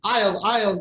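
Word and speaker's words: aisle: But you're right about I'll, they are pronounced the same way.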